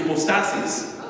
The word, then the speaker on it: hypostasis: This word is pronounced hypostasis in English, but it's pronounced in Greek hypostasis. And it comes from a Greek root, Greek upo, under, and stasis, standing.